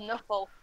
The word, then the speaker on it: Nuffle: Bowl, so he's called Nuffle, because they can't pronounce NFL, so they pronounce it Nuffle.